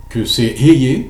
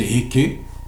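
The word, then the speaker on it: אהיה: Tu leur diras que c'est Eye, le nom qu'on prononce, on va prononcer Eke, qui m'a envoyé vers vous pour vous délivrer.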